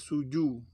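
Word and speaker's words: 蹴鞠: di negara China dengan nama a Zoo Suzuya dibacanya Suju Suju atau Suju adalah sebuah permainan bola Tiongkok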